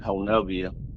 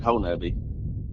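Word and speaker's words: Honobia: Well, my dad lived in a place, called, in between Honubby, or some people pronounce it Honubia, but it's up here we pronounce it Honubby, Oklahoma, and Albion, Oklahoma.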